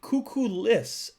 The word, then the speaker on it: Kukulas: Kukulas. Oh. So it is said like kukulis. Kuku. Okay, kuku. And then the A turns into an I.